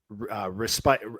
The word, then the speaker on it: respite: You mentioned a word earlier, respite. Is it pronounced respite?